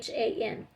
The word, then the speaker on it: Achan: I'm not sure how to pronounce it. It's Achan.